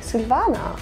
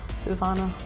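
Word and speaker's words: Silvaner: at the end is if you have ER at the end in Germany it's more of an A okay Silvana yeah Silvana okay okay that's good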